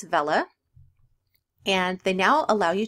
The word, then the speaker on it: Vela: the bulk editor that up until now I've pronounced wrong it's not Vela its Vela and they now allow